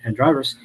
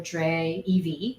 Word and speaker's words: dreyev: Store and searches for Dre EV is that right yeah we pronounce it drive uh you see the